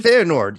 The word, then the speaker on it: Feyenoord: Am I pronouncing that properly? Feyenoord, yeah.